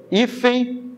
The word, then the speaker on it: hífen: Hífen e também. Hífen e também. Qual a sílaba tônica? Ó, última, penúltima. Hífen. É a mais forte. Você fala hífen. A mais forte é o I.